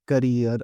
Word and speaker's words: Kareer: Chip so I'm pronouncing it career so you can say it career or similar things so click on install